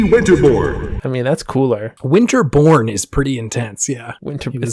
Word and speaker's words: Winterborn: It's so when they say his name, it absolutely sounds like Winterboard. It is Ricky Winterborn.